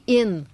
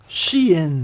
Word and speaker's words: Shein: Puis là, est-ce que c'est Chine ou c'est Shine ou c'est... C'est Shein. Shein. Oui. ben, en tout cas, si c'est Shine, c'est un peu dommage parce que c'est la chaîne.